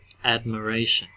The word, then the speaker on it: admiration: Can you hear the I? Admiration. Admiration. Admiration. It's very difficult to hear it in there. Okay, it's almost gone completely. So we call this our. It's definitely changed. It's no longer a long I sound. It's now a schwa.